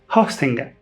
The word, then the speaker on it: Hostinger: And it's pronounced Hostinger, like hosting, not a Wenger.